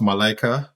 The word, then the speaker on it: Malaika: I did um yeah so it's pronounced Malaika once again and she missed the